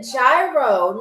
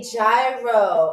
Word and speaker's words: gyro: So, this is a gyro. A gyro, gyro, whatever you want to pronounce it as. Some people say gyro, some people say gyro. I call it gyro cuz I'm from New York.